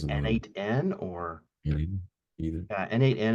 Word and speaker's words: n8n: N8, and how do you pronounce that? Is it a NAN? I guess Is it a N8N or either? Yeah, N8N it's an automation project, similar to Node-RED, if